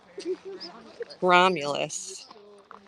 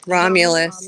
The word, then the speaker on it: Romulus: my goodness that's okay ramulus wow how do you say that Romulus the r the r is faded Romulus yeah the r